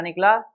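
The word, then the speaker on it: knack: ठीक है, तो देखिए आंसर क्या निकला, नैक। नैक मीन्स, देखिए ध्यान रखिएगा, पहली बात इसमें के साइलेंट होता है। के क्या होता है? साइलेंट होता है, इसे बोला नहीं जाता।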